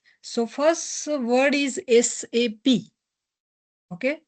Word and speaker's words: SAP: So first word is SAP. Okay? We have to pronounce SAP. Okay? It's a three words. It's not a single word. Okay? It's a not shape. Okay? It's a SAP. Three words.